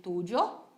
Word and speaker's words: tuyo: Lembre-se sempre que esse Y ele pode ter essas duas variações, tanto com o som de I quanto com o som de J.